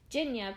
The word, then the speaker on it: Jinya: Jinya, pronounced like Virginia but without the ver, comes in a close second.